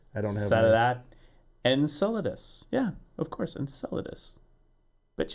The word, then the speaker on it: Enceladus: They keep you hear about enchilada. It's the best way I can pronounce it.